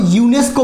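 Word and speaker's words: UNESCO: করে দেখুন আপনি যখন ইউনেস্কো বলেন আপনি যখন ইউনেস্কো বলছেন তখন কিন্তু আপনি এভাবে বলেন না ইউএনইএসসিও এরকম করে কি বলছেন আপনি একটা ওয়ার্ড আকারে উচ্চারণ করছেন ইউনেস্কো তাই না ইউনেস্কো তাহলে এই ইউনেস্কোটা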